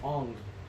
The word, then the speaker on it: Aang: and it was that's not even Aang. Ong.